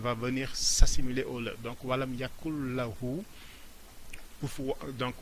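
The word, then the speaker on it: وَلَمْ يَكُن لَّهُۥ: avec le tajwid, on ne va pas dire walam yakun lahu. Le ne et le, quand on les prononce, c'est des sons très proches, donc ce qui fait que le ne va venir s'assimiler au le.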